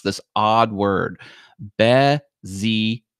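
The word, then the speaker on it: Bézier: And that's how you pronounce this odd word, Bezier. It's French. It's a French word, and it's awesome.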